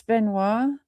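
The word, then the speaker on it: Benoit: I don't know anything about the the uh Chris Benois. Is that right? Yeah. Okay. So, I'm going to do some research. It's spelled French though. It's B E N O I T.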